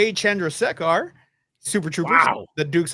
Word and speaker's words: Chandrasekhar: God, I can't pronounce it like he did. Chandrasekhar. Chandrasekhar.